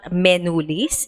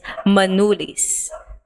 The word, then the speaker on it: menulis: Their letter E is not it's so it's not menulis, it's manulis.